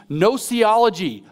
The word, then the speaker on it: gnosiology: They call it a, I kid you not, spelled with a G, gnosiology, a Gnostic theory of knowledge.